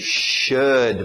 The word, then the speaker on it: should: Temos aí should, mesmo som, would, could, good, should, ok?